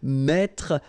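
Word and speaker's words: mets: the last I'm not sure about that anymore met will become e s me same advice here don't pronounced the final s like we had here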